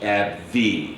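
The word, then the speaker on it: AbbVie: and the pronunciation is AB V so we put a little emphasis on that V for for Life uh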